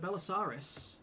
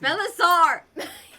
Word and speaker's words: Belisar: They discover that Belisarius, Gaffy... Belisar! Yeah, Belisar. It's not a dinosaur.